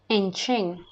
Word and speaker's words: Nkyene: Nkyene.